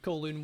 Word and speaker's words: Kowloon: I thought it was pronounced Kowloon. Kowloon. You didn't know what it said. It is Kowloon, yeah.